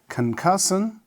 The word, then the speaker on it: concussion: have number two is concussion, C-O-N-C-U-S-S-I-O-N. So we write is can, then short then sun. Concussion, so stress is also in the second and it has concussion. Okay, therefore you have also two syllables and the stress lies